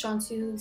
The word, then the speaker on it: Cansu: Like, just like all teachers, they read my name, they say cansu, and then I say, no, it's cansu, she's pronounced like a J.